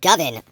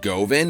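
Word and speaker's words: Govan: let's be honest here it's pronounced gven like oven bro this came up a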